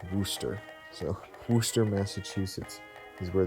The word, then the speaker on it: Worcester: But someone corrected me, and they said it's pronounced Worcester.